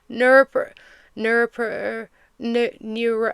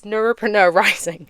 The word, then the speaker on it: Neuropreneur Rising: Um, honestly, if I'm being so real, people can't pronounce Neuropreneur Rising. They see it written on the screen and they're like Neurop Neurop Neuro and I'm like dude, it's Neuropreneur Rising.